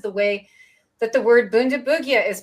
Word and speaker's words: Bundibugyo: So that was the final nail in the coffin for the soft G, because I've had Jess and many others say that it's pronounced with a hard G in East Africa.